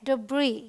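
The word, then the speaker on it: debris: पर S silent है यह है डब्री या फिर डब्री बट यहां पर इस एस को हम नहीं बोलते यहां आइए इसे देखिए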